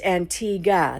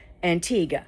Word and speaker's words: Antigua: And she said it's Antigua. The U is silent. So, it actually just supposed to be pronounced Antigua.